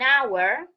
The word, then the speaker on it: hour: When the H is silent, for example, in an hour, we do not say an hour. So here the H is silent and it sounds like O.